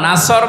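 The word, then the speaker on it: نصر: নুন সোয়াদ র, নাসর মানে সাহায্য, আর নুন সিন র, নাসর মানে ঈগল পাখি। এই জন্য তেলাওয়াত যখন করবেন সোয়াদ উচ্চারণটা মুখ গোল করা লাগে।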